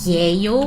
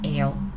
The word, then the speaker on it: 예요: We don't pronounce 예 clearly as well, because 예 is tough. It's extra effort to put, right, to pronounce it. So that we don't really pronounce it 예요, we pronounce it 에요.